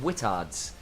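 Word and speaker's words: Whittard: company from the UK spelled w h i t t a r DS don't don't mispronounce it guys don't don't do that um there you go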